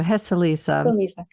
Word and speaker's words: Heceliza: I said it wrong. So Heceliza.